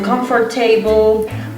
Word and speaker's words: comfortable: They always say comfortable or comfortable, but the correct pronunciation is comfortable.